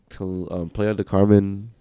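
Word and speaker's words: Playa del Carmen: To Playa de Carmen. Playa. I know. Oh, the beach. But he Everybody, yeah, everybody. Leave the play alone, bro. No. Leave the play alone. Say it right. Playa de Carmen.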